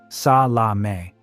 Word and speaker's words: Salameh: Red Prince, Ali Hassan Salameh, pronounced sa la may, believed to be a chief architect of the Munich massacre.